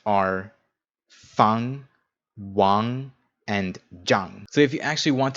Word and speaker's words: Zhang: Z in English, but you should know that it's actually pronounced more like a J. So these 3 syllables pronounced are Fang, Wang, and Zhang.